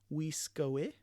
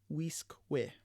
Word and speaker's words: Wiskwe: So instead of saying Wiskoe, we would pronounce it Wiskwe.